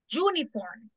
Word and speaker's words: uniform: Uniform. Este es como que la dijeron con Y. Sí, ¿verdad? Uniform. Es como unique university. El sonido, the sound.